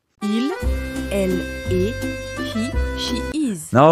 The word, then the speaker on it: est: Both forms use est, its final s and t are silent.